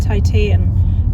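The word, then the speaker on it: Titane: Titan. It looks like Titan. It's pronounced Tita.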